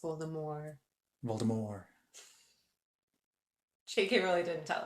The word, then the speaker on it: Voldemort: someone by the name of Voldemort yes properly pronounced Voldemort Voldemort sh really didn't tell us that all